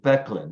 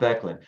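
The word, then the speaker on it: Böcklin: a famous painting by a Swiss painter Arnold becklin that's spelled b-o-c-k-l-i-n Arnold becklin actually I should say a series of paintings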